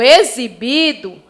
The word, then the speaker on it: exibido: Já quando eu digo exibido, a palavra pronunciada tem um som de Z.